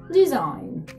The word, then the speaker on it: design: Або вона просто взагалі може не читатися. Наприклад, як в слові design.